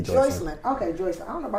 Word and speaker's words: Joycelyn: Just say Joycelyn. Okay, Joycelyn. I don't know if I thought her name was Joycelyn. Maybe. Joycelyn. It's spelled like Jocelyn, but they said Joycelyn.